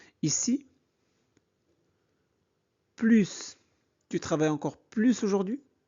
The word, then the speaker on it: plus: Ici plus veut dire davantage comme le sens est positif on prononce le s marque oui je travaille h efficacement qu'avant. Je travaille plus efficacement. Pourquoi S devient Z ?